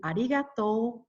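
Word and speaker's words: arigatō: it and stress it in japanese the u is not stressed therefore i use a hyphen instead as you may have noticed in arigato and here sayonara sayonara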